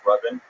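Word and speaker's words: Rabin: It's pronounced Robin. Robin, but it's spelled R A B I N. So, it's spelled Raven. No, the A makes the same sound as the first syllable in amazing.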